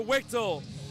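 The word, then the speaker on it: Wichtl: How you say his name? Christopher Wichtel to 14 in. Wichtel? All right, it's Christopher Wichtel.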